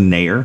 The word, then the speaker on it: Naeher: red stars played with goalkeeper pronunciation dire Alisa Nair Alyssa naeher any hers then Cole mill